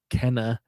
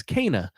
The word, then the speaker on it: Kena: We were pronouncing it both wrong, Kena and Kenna, but it's Kena.